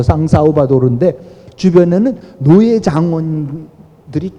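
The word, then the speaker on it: São Salvador: 하여튼 그 국가 이름인데, 하여튼 그 부분하고 이제 섞여 있는 부분이지만은 그 이전부터 서양 제국주의 도래 이전부터 수도 산살바도르, 그러니까 포르투갈 발음으로 상사우바도르인데 주변에는 노예 장원들이 꽉 둘러싸고 있었고, 그리고 전국에서는 세금을 마구 거두면서 그걸 갖고 이 왕국이 살아가고 있었어요.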